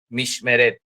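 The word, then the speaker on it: משמרת: M-I-S-H-M-E, con un acento en esa E, va un acento, R-E-T, mishmeret, así, mishmeret, ¿sí?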